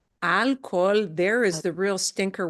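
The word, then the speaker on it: alcohol: has lots of problem because we got an H in the middle and the H is silent but then that means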